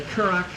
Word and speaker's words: currach: uh the name of our band is the kurak Irish Trio um we're a quartet today and